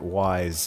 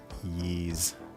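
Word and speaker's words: Ys: Yeah, he did. So I pronounced it wise and then I had to go back and re-record that audio because I found out oh it's pronounced Ye.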